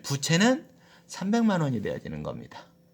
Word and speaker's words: 부채: 이때 부채를 발음할 때는 부채 이렇게 하면 안 되고 부를 좀 길게 해서 부채 이렇게 발음하는 겁니다.